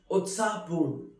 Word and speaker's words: उत्साहपूर्ण: Utsahpurn, which is pronounced as Utsahpurn, which means very excited, very lively.